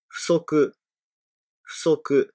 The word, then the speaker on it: 不足: Si on dit seulement ce mot, on le prononce fusoku. Je répète deux fois. Fusoku, fusoku.